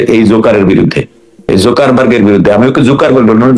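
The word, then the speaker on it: Zuckerberg: আগে মামলাটা করতাম যে এই জোকারের বিরুদ্ধে এই জোকারবার্গের বিরুদ্ধে আমি ওকে জোকার বলে জোকার ওর নাম হচ্ছে একচুয়াল উচ্চারণ হচ্ছে ইয়াকারবার্গ ইয়াকারবার্গ জাকারবার্গ ওর উচ্চারণ ওর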